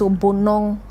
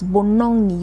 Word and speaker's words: Bonong: So it's not N-O-O. No, it's Bonong. So it's Bonong.